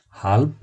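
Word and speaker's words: halb: হাল্ব অর্ধেক। জার্মানরা সাধারণত বটা সম্পূর্ণ বয়ের মতো উচ্চারণ করে না, প এবং বয়ের মাঝামাঝি একটা উচ্চারণ করে, হাল্ব অর্থাৎ অর্ধেক।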